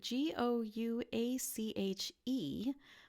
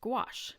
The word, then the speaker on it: gouache: gouache it is spelled g o ua CH e but it is pronounced gouache kind of like gosh but with a W in it gouache and it is